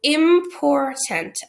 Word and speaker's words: important: So important, I consider 3 syllables. Im, por, and tent. M is closed because of the short vowel I, and it is closed off by an M. Por, I would circle the OR and call that an R-controlled syllable. And tent is a closed syllable, but it's also a schwa because it is de-emphasized in the pronunciation of the word, so that what should be an sounds more like in, right?